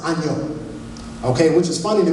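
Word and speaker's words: 아니요: Now, in Korean, the word no is pronounced anyo.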